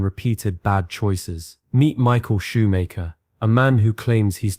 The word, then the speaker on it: Shoemaker: Is it Schumacher or Shoemaker? Shoemaker.